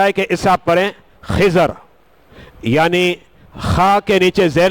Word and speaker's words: خضر: خضر علیہ السلام، حضرت خضر۔ اب یہاں میں آپ کو تھوڑا تلفظ واضح کر دوں، بعض لوگ اسے خضر پڑھتے ہیں، بعض خضر پڑھتے ہیں، اچھا بعض خضیر پڑھتے ہیں. یہ تینوں طریقے درست ہیں، آپ کی مرضی